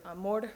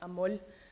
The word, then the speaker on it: amor: Lateralization sounds kind of complicated, but it's actually just when what is usually an R sound in many dialects of Spanish becomes an L sound in some dialects, like most stereotypically Puerto Rican Spanish.